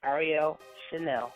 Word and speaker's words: Arielle Chanelle: on our show, and her name is Arielle Chanelle, right? That's right? I'm saying it right? Yes, you are. That's correct.